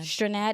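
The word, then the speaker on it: Strnad: Um when you talk about their linebackers, uh Justin Sternad, Sternad, Strainad, yes, that's how you pronounce his name.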